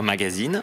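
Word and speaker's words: magasin: Vous ne dites pas magazine, ou alors vous ne dites pas magazine, vous dites magazine. L'inflexion se trouve sur la dernière voyelle.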